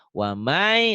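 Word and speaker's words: ومن: Jadi waman yabtagi dibacanya wamai.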